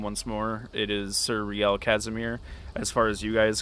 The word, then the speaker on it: Rielle Casimire: As far as with being knighted and adopting my noble name once more, it is Sir Rielle Casimire.